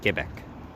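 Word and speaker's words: Québec: name of Quebec, or in Québécois French, Quebec, how it's pronounced.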